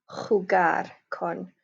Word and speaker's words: jugar: Remember you pronounce J's like a ch sound, so jugar con.